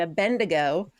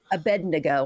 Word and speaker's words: Abednego: So, here they're telling the story of Shadrach, Meshach, and Abedneo. Abednego, I'm sorry I said that. I always say it wrong. Abed, everybody does.